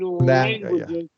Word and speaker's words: languages: Now, but remember our long A here in languages.